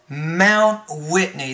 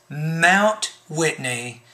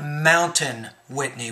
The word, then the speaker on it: Mount Whitney: you can actually say when you have the word mt you can simply say mount mount whitney that's the best way to pronounce that for example if you see the word mr before a name then that's mister so this is mount whitney not mountain whitney we usually just say mount whitney not in the